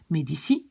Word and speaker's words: medici: Medicus, ça devient medici. Musicus, ça devient musici. Et vous voyez que donc quand il y a un i qui suit, je prononce ça comme S. Donc politici, medici, musici.